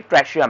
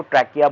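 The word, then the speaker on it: trachea: ठीक है, इसको ट्रैकिया भी बोलते हैं, कुछ टीचर इसको ट्रैकिया बोलेगी, कुछ ट्रैशिया बोलेगी। वो प्रोनाउंसिएशन आप देख लेना बेटा कि कौन सी आपकी टीचर बोल रही है।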